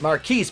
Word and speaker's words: Marquise: godforsaken scene is that Marquise, pronounced Marcus because he's fucking stupid, wants Ryan to sign a letter of resignation from her position as temporary CEO of Wayne Enterprises.